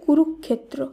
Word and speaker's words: কুরুক্ষেত্র: কয়রস্যু রয়রস্যু ক্ষীয় একার তয়রফলা, এর শুদ্ধ উচ্চারণ কুরুক্ষেত্র, কুরুক্ষেত্র নয়, এর শুদ্ধ উচ্চারণ হবে কুরুক্ষেত্র।